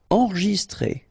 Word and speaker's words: enregistré: Enregistré, okay, so here, final E with the accent, so E, okay, T-R-E, accent grave, c'est, accent aigu, it's très, alright, so enregistré, okay, but then you don't really insist on this E, enregistré, enregistré, détendu, okay, so E-N-E-N, détendu, détendu.